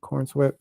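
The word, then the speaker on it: David Corenswet: That's how you say it, Cornsweat.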